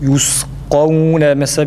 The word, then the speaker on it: يسقون: Yusqavne mesela birinci kaf a sesiyle okunur. Çünkü burada mukadder bir elif var demiştik. Yusqavne desek kavne değil. Yusqavne fakat ikincisi esreli olduğu için elif yoktur ve dolayısıyla sade bir şekilde okuyoruz.